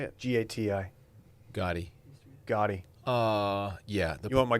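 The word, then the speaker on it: Gati: Gotti.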